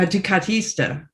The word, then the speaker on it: Ducatista: A Ducatista. A Ducatista. Ducatista. A Ducatista. I wanted to pronounce it correctly.